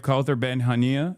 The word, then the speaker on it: Kaouther Ben Hania: So that's the Voice of Hind Rajab, and today we have Kaouther Ben Hania.